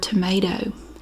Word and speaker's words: tomato: And when it comes to the word tomato, how do I pronounce it? Tomato. It's like there's an A at the end of it instead of an O.